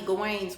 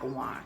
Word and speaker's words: Gawain: When we were diving into Shakti Gawain's book, I said her name wrong. It's Gawain, not Gawan.